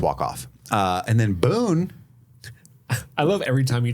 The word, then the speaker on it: Boone: county where I'm from I know Boone County that's how you say it around here is Boone County Boone County uh the